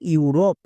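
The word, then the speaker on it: Europe: হবে ইউ যেমন দেখো ইউরোপ এই ওয়ার্ডটিতে দেখো একদম শুরুতে vowel blending word E ইউ আছে তার মানে এর জন্য ইউ সাউন্ড করবো যেমন ই ইউ আর ও পি ই রপ ইউরোপ বোঝা গেল ই ইউ আর ও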